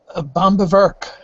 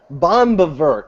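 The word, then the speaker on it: Böhm: How the hell do you pronounce Eugene Bomb von Bower? Bomb. Bomb.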